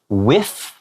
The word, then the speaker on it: whiff: A lot of times there are words that start with W-H, like what, where. It's just pronounced like a W.